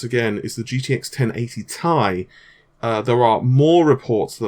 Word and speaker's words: Ti: In fact, I believe an Nvidia employee actually went on record and said it is actually pronounced Ti because it's like titanium.